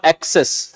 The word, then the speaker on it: access: Pronunciation पे भी ध्यान दो, ए के बाद में डबल सी लिखा हुआ है, मैं उसे बोलूंगा एक्सेस, और ए के बाद में डबल एस लिखा हुआ है तो उसमें बोलूंगा असेस।